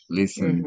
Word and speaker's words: listened: So this is a, a, a past tense that ends in ed, but you pronounce it like a D. No Okay. como, no como el talked, listened.